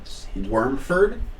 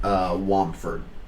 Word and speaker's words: Wormford: Yeah, so you do know that it's technically pronounced Wormford, but a lot of people called it Wamford, thanks to like the local accent that they have.